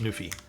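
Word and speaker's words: NuPhy: So this is a board by I believe it's pronounced Nufi.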